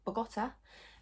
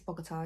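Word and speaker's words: Bogotá: got a bus to Bogota. So that's not how you say it, it's Bogota, isn't it?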